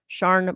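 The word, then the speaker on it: Siân: Welsh name pronounced Sharn.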